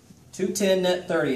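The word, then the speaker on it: 2/10 net 30: be something like this 2-10 net 30. 210 net 30 is how you say that 210 net 30.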